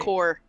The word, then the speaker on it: Corps: How do you say Corps, right? Corps. Not corpse? Yeah, not corpse.